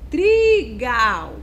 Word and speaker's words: trigal: trem também vamos verificar trigal Olha só trigal então a sílaba tônica é a sílaba é a última sílaba é um Gal Se eu fosse fazer o contrário trigal não tem sentido então